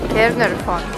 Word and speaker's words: Caernarfon: Yeah, how do you pronounce it? Caernarfon.